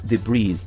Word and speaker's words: debris: bucket full of concrete debris the pronunciation is debris we don't pronounce the S because it's a word that comes from French language there are many French